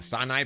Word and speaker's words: Sinai: We are happy to see the beautiful landscapes of the Sinai Peninsula, or how the Eastern locals say it, Sinai.